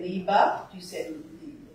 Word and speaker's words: Liebe: So my feeling after living in Germany for many years is to go towards the liebe, as in son, and you'll hear the difference if she would sing a tiny bit.